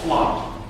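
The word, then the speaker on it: Flot: package out there called flop it's pronounced like plot and uh it's you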